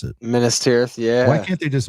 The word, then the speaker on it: Minas Tirith: If you're reading this, save money for, I don't know how to pronounce it. Minas Tirith, yeah.